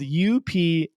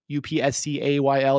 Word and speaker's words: Upscayl: There's one that I've been using, which is free, and it's called Upscale, but it's spelled funny. It's spelled Upscayl. Upscayl.